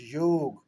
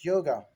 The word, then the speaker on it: yoga: The real world is not yoga, the real world is yog, but they have pronounced it yoga.